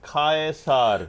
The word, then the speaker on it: Caesar: In Latin, the name Caesar is pronounced kay. Thank you. With the C pronounced as K sound.